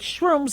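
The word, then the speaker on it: Shruumz: with a kick now it's spelled s HR uu MZ but it sounds like shrooms like mushrooms now mushrooms that contain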